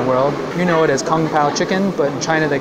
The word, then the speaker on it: 宫保: In the Wade-Giles system, gong bao is spelled like kung pao chicken. So that's surely where they got the name from.